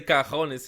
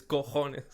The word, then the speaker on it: cojones: You say cajones, it's cojones.